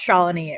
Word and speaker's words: Shalini: I can share Hi, Shalini. a little bit. Hi. Is it Shalini? Is that how you pronounce that? It's Shalini. It rhymes with colony.